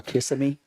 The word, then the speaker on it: Kissimmee: Or Kissimmee.